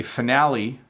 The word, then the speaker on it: finale: morale I would say finale and I would say locale so that's how I would pronounce those three I am not sure